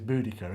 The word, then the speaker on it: Boudica: The modern way is Boudica, isn't Boudica, it?